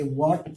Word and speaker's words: what: WHAT, एच के बाद डब्लू के बाद एच आया, एच के बाद ए, हम इसे वॉट पढ़ेंगे।